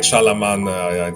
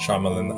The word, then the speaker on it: Shyamalan: of the I feel like with Night Shalaman, sorry I don't pronounce his name well, but uh Night Shamalan M Knight Shyamalan M Knight Shaman Shamalan Shyamalan I think he's very he's been extremely volatile.